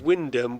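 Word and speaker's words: Wyndham: So wind w o n d h a m is pronounced windom with the y o and h effect effectively silent says Nick as husan comes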